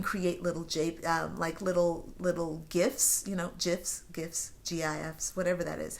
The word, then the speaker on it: GIF: You can create little little gifs, gifs, GIFs, whatever that is.